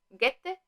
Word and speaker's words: Goethe: del joven Werther de Johann Wolfgang von Goethe, pronunciado en alemán, porque yo he estudiado alemán en el Instituto Alemán del Goethe y insiste mucho en pronunciar bien este autor porque es muy importante en Alemania.